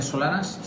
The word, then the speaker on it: Solanes: Solanas, Solanes, es catalán, se pronuncia Solanas, es ingeniero agrónomo.